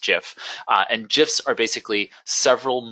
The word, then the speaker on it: GIF: And it is pronounced GIF. GIF is pronounced GIF.